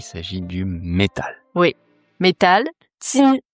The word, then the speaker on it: 金: Tin tin. Premier ton J I N.